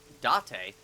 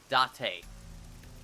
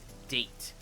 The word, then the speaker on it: Date: Yes, it's pronounced Date, not date. I know some people who make that mistake their first time, but yes, Date.